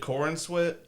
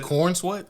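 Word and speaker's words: Corenswet: know uh uh David Corin Swit I guess that's how you pronounce it corn sweat corn sweat it sounds like corn sweat yeah uh he's from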